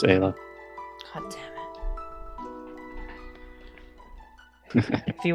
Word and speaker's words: Ayla: Or is it Ayla? It's Isla. Ayla. Okay. Wait. No, it's Ayla.